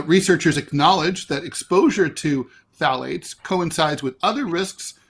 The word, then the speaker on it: phthalates: These chemicals, which are known as phthalates, they're they're spelled they're they're phalates. They're pronounced I mean, the spelling is crazy. Ph. Anyway, phalates were responsible for more than 350,000 deaths worldwide in the year 2018.